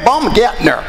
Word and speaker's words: Baumgartner: where I was stationed, the Germans would glance at me, look down at my name tag, and they would say, Herr Baumgartner. You know, that's how they pronounce it over there. Herr Baumgartner. And you got the little umlauts over that A there.